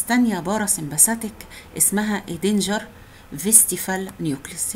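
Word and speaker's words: Westphal: في نيوكليوس تانية بارا سمباثيك اسمها ادينجر فيستيفال نيوكليوس، هي اولها دبليو فيستيفال، بس بتتنطق في لان اللي اكتشفها الماني فيستيفال.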